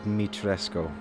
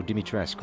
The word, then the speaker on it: Dimitrescu: It's the Lady Dimitrescu. Sorry, Dimitrescu? No, Dimitrescu, right? You don't pronounce the U. Dimitrescu.